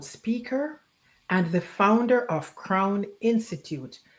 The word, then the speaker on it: CRWN: Crown. Charity is a former executive recruiter and career coach. She uses her experiences to guide organizations and executives to with her crown model of self leadership framework.